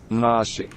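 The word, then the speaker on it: naži: Okay, it's spelled like Nazi, but it's Nashi. pronounced Nashi.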